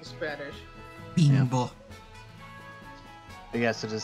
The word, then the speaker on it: Bimbo: I didn't know it was actually pronounced Bimbo. I thought it was Bimbo. Bimbo, if you're speaking Spanish. Bimbo.